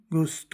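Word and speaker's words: gusto: इसको जुस्तो मत पढ़ देना। यह गुस्तो होता है।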